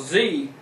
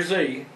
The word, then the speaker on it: Xe: the company, now called Z, pronounced like the letter Z, but it's spelled XE, is working to bury